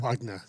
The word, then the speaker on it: Wagener: Siri always has a wonderful time pronouncing your name when I tell her to call Brent Wagener. Wagner. Yes. She because it's spelled German.